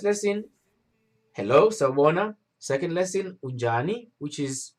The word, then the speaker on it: unjani: And how you pronounce it is unjani. Look, I'm trying my best to create like a way, like a format where I can help you guys pronounce this correctly. So unjani is like right here. Unjani, and I'll advise you to put an N on J, so it can have that sense of unjani rather than ujani.